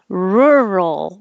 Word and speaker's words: rural: in my everyday speech roll is weird rural rural your tongue is in the r position so my tongue's curled